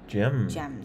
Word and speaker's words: GEMN: So Gemn, pronounced Gemn, their name. G-E-M-N, yep.